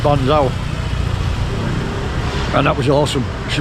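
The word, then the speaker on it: bánh xèo: Last time she did me Ban Gioc. I've been saying Ban Gioc. It's spelt Z-E-O at the end. But I've since been told it's Ban Gioc.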